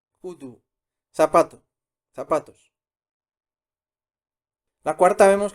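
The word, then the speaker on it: 구두: Estamos viendo palabras bisílabas. La tercera, ¿cómo sería? Kudu. Kudu. Kudu.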